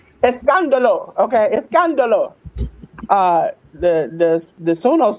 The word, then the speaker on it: Escándalo: Saturday Night Main Event to I did not pronounce it, Verano de Escandalo. That's how you say it, Jim? Escándalo. Escandalo.